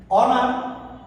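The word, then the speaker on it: honour: অনার, উচ্চারণটা কি দিয়ে আসলো অ দিয়ে।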